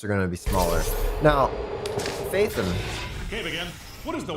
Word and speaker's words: Phaethon: You pronounce it like Phaethon. That makes so much sense because I always thought there was an E after the TH.